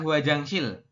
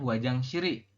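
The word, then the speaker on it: 화장실이: sini ada ini ada huajangsil Oke huajangsil maknanya adalah toilet ya kita bacanya huajangsiri ya ya bukan huajangsil terus I tapi huajangsiri Oke huajangsiri Odi menikah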